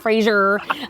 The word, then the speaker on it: Fraser: is Sir razor Brooks that is how you say it America by the way okay we've been saying it wrong it's Fraser not Fraser and so at any rate